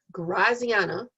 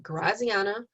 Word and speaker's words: Graziana: sections have great uas my name is graziana that's how you pronounce it graziana um people usually call me or miss